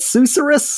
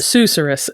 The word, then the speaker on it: susurrus: So Susurrus is like the more historically correct way to say it, but most English speakers, like Susurrus kind of flows off the tongue better. So that's how it gets said a lot.